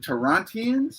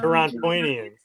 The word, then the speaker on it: Torontonians: Which, by the way, I think I think Unworthy pronounced it right. The Torontians or Torontians. Torontonians.